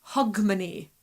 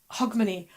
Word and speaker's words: Hogmanay: making it up but it was always pronounced more hog money okay hog money and I found this